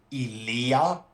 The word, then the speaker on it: Ilia: Yeah, so the way you pronounce it in Greek is Ilia. It's more like elongated.